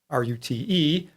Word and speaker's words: rute: First of all, these are a variation on something that's called a rute, R-U-T-E. Some people pronounce that rute.